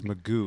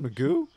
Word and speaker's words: McGough: Sark says Magoo is how you say his name. Sarkisian? Pronounced Magoo. Alex Magoo.